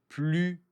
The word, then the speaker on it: plus: Ici, plus léger. Quand on utilise un adjectif, on ne prononce pas le S.